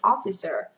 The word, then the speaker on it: officer: Officer, officer, officer trong âm thứ nhất ạ.